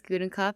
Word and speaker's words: Gudenkauf: Yeah, my name's Gudenkauf. I'm impressed you pronounced it right.